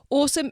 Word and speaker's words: Osome: Now, Awesome is spelt OSOME.